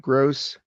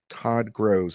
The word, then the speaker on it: Gross: Hey gang, this is Todd Gross. Now, sometimes it gets my name wrong and it says Gross. So I'll write gross like that, which sometimes it pronounces grows, but it's closer. Todd Grows.